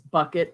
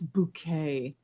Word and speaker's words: Bucket: show The main character her name was bucket but she's like no it's bouquet it's bouquet cyle is how you say my name um but the the